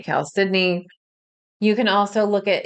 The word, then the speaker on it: chalcedony: So, one of the wonderful stones, the way I pronounce it is chalcedony. That can be a stone that works really well. Some people say chalcedony, I say chalcedony.